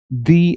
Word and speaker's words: the: तो ये है वावल, और इसको हम प्रोनाउंस करेंगे दी एक्शन। ठीक है। Second last word, building. ये भी ब से चालू हो रहा है, ये कॉन्सोनेंट है, तो हम बोलेंगे द बिल्डिंग। हम नहीं बोलेंगे दी बिल्डिंग, हम बोलेंगे द बिल्डिंग।